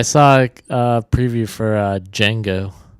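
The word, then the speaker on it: Django: uh preview for uh D Jango Jen the D is silent that's my uh Jamie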